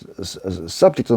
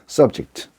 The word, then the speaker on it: subject: 앞에서 우리가 subject도 마찬가지였죠. 그죠? 명사로 또는 형용사로 사용될 때는 subject, 동사로 사용될 때는 subject 하는 것처럼.